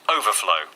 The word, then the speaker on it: overflow: the final syllable and when it's a noun overflow with the stress on their first syllable and overflow and the